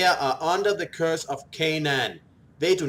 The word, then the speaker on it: Canaan: Canaan, it's actually pronounced Canaan.